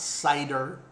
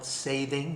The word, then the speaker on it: seiðr: No, it's not cedar, and it's not cider. I call it Seiðr. You may mispronounce it another way, or seething.